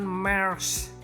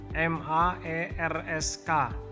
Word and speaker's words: Maersk: Dan yang terakhir nih guys ya, ini yang nomor 7, perusahaan Maersk Indonesia. Gimana bacanya nih? M-A-E-R-S-K, Maersk Indonesia.